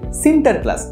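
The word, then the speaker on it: Sinterklaas: নিয়ে লেখেন নিউইয়র্কের ইতিহাসে অলুন্দজরা সেন্ট নিকোলাস কে উচ্চারণ করতেন সিন্টার ক্লাস আর এই সিন্টার ক্লাসই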